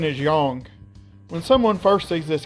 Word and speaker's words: Yang: When someone first sees this character's name, they're probably going to call him Yang, since his name looks a lot like a word that should rhyme with the word bang.